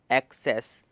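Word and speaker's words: access: से, और फिर सेस, एक्सेस। पर इस डबल एस में क्या सीन हो रहा है कि इसमें डबल एस है लेकिन एक ही एस की आवाज़ आ रही है, एक एस हमारा साइलेंट है।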